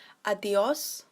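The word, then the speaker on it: adiós: So adios is quite commonly known already, so it won't be that hard to pick up. Just remember to stress the O, adios, and then that's pretty much everything you need to know.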